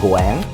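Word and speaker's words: ご縁: In Japanese, 5 is go. Go. Yen. Go yen. Uh-huh. And that pronunciation is similar to goen.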